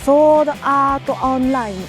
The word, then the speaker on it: Sword Art Online: Ensuite, ce qu'on prononcerait en français par Sword Art Online. Nananana. Sword Art Online. Sword Art Online. Sword Art Online. Oui, c'est un petit peu drôle à entendre comme ça, mais c'est comme ça que ça se prononce. Lisez bien les katakana.